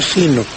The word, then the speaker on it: sino: Cuando sino está en oposición a un no, entonces se escribe en una sola palabra y se pronuncia sino. Pues en otros casos se pronuncia en dos palabras y se dice sí, no, ¿verdad?